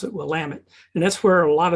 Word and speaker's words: Willamette: middle of Oregon through an area called the Willamette Valley. It looks like Willamette, but they pronounce it Willamette.